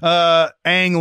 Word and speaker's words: Ang: Ang Lee won for Life of Pi. Another hard name to pronounce. Yeah, very hard. Very hard. I was calling him Ong for the longest time.